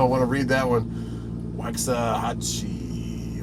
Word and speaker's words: Waxahachie: Waxahachie. Waxahachie, is that how you say it?